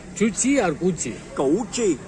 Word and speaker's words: Cu Chi: How to pronounce? C-U. Spelling I know. Tell me. Tunnel name? Chuchi or Gucci? Gouchi. Gouchi.